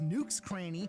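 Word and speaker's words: Nook's Cranny: you dummy his store is actually pronounced nuk's cranny which is just a play on the words nook and cranny because it's Tom nuke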